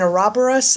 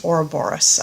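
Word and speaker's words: ouroboros: that's eating itself yeah which I'm telling you that should be pronounced hora Boris I don't know really should because I had to sit there for a second and think what the hell they were talking about with a robber us yeah I'm sorry that's just pronounced wrong I don't think even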